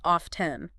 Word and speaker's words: often: often causes confusion often do you say it with a t like often yeah isn't that how everyone says it well well that is totally fine especially in casual conversation there's another way to say it often often that sounds so